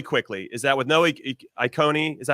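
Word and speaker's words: Ikoné: My only issue with Lille, really quickly, is that with no Iconi, is that how you say it, JJ? Iconi? Icone is an amazing player.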